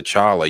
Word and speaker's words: T'Challa: song Thank God to Chara rhymes with dollar gotta put phone every